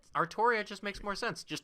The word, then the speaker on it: Artoria: And he's just like, yeah, Altria fell for that one all the time. Artoria. I'm not accepting of it. It's Artoria. It's pronounced.